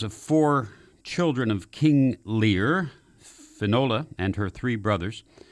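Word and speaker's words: Lir: Let's start with the myth of the children of Lear. Lear is spelled here L-I-R. This is not the bard's Lear, by the way, L-E-A-R.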